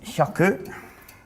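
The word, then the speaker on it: 百: Is hyaku, which is 1, 2, 4.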